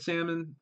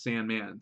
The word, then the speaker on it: Sandmann: But good job, Nick Salmon. Well, he actually pronounces Sandman, so the Sandman says it.